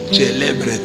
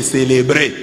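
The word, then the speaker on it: celebret: C'est comme ça qu'un prêtre prononce célébret. Mais lui a dit on m'a pris les célébrés.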